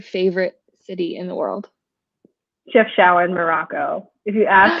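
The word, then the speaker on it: Chefchaouen: what is your favorite city in the world chef shower in morocco if you ask how to spell it it's c-h-e-f oh boy c-h-e-f t-h-a-o-u-e-n and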